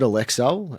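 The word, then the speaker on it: Alecell: I'd pronounce it Alexcel and then had a couple of people say, "Hang on, this isn't quite right.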